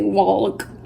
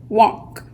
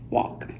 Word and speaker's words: walk: letter you still hear a lot of people make mistakes because you'll hear them pronounce the L and I've been guilty of that in times past just because you really want to say Wallach cuz I'm going to